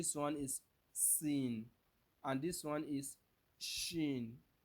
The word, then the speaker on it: سين: you are going to use S to pronounce sword. But the only difference is that you are going to let your lips be a little bit round while you are pronouncing the sword. But in the case of the sin, you make your lips to be flat, and you make your teeth to be what?